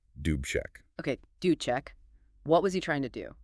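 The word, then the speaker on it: Alexander Dubček: The leader there was Alexander Duchek. That's pronounced roughly doobech.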